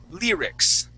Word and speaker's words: lyrics: words of a song now this word is actually pronounced like this Lear lyrics uh lyrics There You Go lyrics yeah so that that Y is going to have more of a long e sound to it Lear lyrics okay and